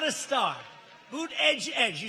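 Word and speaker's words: Buttigieg: have a young guy buddha buddha judge they're saying how to say his name boot edge edge he's a beauty he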